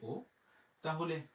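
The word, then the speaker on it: auto: এরপরে আ ইউতে উচ্চারণ আমাদের হয়ে গেল ও, তে ওতে আমাদের হয়ে গেল তো, তাহলে আমরা পেয়ে গেলাম ও তো, ও তো।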